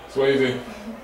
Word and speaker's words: Swayze: Swayze. You were putting up points. That is how you pronounce it, right? Yes, sir. Yes.